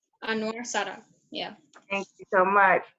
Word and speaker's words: Sadat: It is pronounced, give me 1 second. Let me check it right. Hold on. It is Anwar Sadat. Anwar Sadat, yeah.